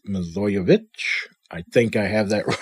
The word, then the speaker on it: Milojevic: I've been saying Milojevic, so it's sort of a shortened version of her last name, I suppose, but that's obviously wrong. It's Milojevic.